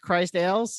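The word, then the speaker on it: Cris Tales: I know that is it pronounced Chris Tales? Let's go with that. It looks like it is. Christ like- Ales, I believe it's pronounced. It's pronounced Christ Ales.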